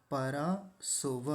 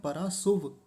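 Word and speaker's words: परा सुव: सोव को ध्यान से देखिए। यहां भी एक गलती होती है। बहुत सारे लोगों को ऐसा उच्चारण करते देखा जाता है। वह बोलते हैं पराशुभव। शुभ यानी हलंत लगा देते हैं।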